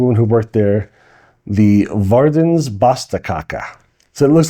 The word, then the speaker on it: Verdens Beste Kake: Um, it's called it's pronounced and I verified with the woman who worked there, the Verdens Basta Kaka. So, it looks like Verdan's best kaka.